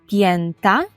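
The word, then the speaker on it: pięta: п'ята п'ята і п'яти Давайте скажемо попоску то пєнта пєнта Ну і пєнти пєнта ПН і вже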